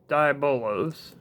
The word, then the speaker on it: Diabolos: at eight grams okay so we have venom dibolos i am pronouncing his name finally right he weighs 66